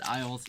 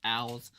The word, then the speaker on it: Owls: I said Isles. It's Owls.